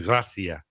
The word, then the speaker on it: Gracia: You've got to go Gracia.